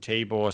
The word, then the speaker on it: Tibore: Tibore.